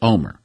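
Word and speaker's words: Olmert: wonder if that's Ehud Omer. See, because you pronounce pronounce Ehud's Omer's last name Omer, but it's spelled O-L-M-E-R-T, but it's pronounced Omer.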